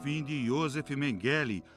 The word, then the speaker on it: Mengele: Mengele na pronúncia alemã, era médico em Auschwitz.